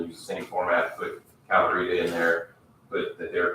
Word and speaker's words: Calorita: County Health Department and Calorita, right? Calorie food and prep. can you say that? Spell it. Calorita. CALORITA. Food and Like margarita. It is like margarita.